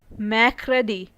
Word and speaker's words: mercredi: Tuesday in French is pronounced as mardi. Mardi. Wednesday in French is spoken as mercredi.